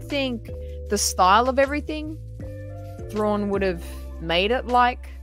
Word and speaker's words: Thrawn: but I was like it's it's thrawn like prawn actually I think it